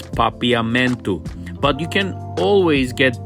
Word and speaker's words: Papiamento: language of croissant people is papayamento i don't know if i'm saying it right but it's papiamento but you can always